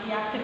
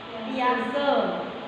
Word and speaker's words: Piaget: Jangan Piaget ya bacanya, tapi Piaget.